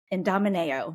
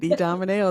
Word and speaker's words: Idomeneo: Vicky who is the CEO and founder of IND Domino did I say it correctly Vicki you did IND Domino that was perfect awesome well I'm excited for